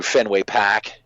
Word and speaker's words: Fenway Park: like 3 miles to Fenway Pack, and that's how they say it. I don't say it like that, but they say it, so I feel like I have to be part of the equation.